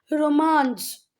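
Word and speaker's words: Romansh: बेटे जब आप इसका गूगल पे प्रोनाउंसिएशन देखोगे तो इसका गूगल पे प्रोनाउंसिएशन कुछ इस तरीके से आता है, रोमांस। जा का प्रोनाउंसिएशन रोमांस ऐसे करके, है ना।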